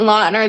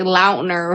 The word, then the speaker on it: Lautner: just be like awesome like Taylor Lautner it wasn't lonner this whole time it was like Lautner or something like that wait Taylor Jacob from